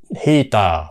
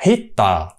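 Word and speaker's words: heater: Mỹ đọc rồi đó Việt Nam mình thì cứ đọc không phải là hita mà mình đọc hít tờ hít tờ Bắc qua cái chữ hit luôn thành ra là một ông cụt lủng như vậy là không đúng Mỹ không có ai đọc là hít tờ hết á mà không Tao là hi tờ không à Hitachi rồi bây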